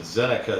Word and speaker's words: Zinneke: found it in dictionary and uh they said zenica is the actual pronunciation of the word but uh yeah it's